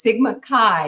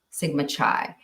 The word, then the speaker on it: Sigma Chi: mispronunciation so RJ says Sigma Kai is how it is pronounced like the Greek alphabet and I am 100%